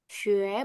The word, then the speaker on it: 学: Xue. Bacanya xue.